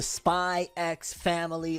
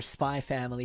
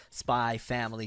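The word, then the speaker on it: SPY×FAMILY: gonna pronounce it as spy family because most people said it's like hunter hunter where the x is silent it's not hunter x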